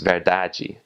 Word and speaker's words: verdade: In Portuguese, it's spelled the same, but you have an E at the end, right after the final D, so it's pronounced verdade.